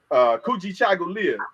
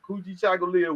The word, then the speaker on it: Kujichagulia: Kujichagulia, and it's pronounced exactly like it's spelled. Kujichagulia, which is self-determination.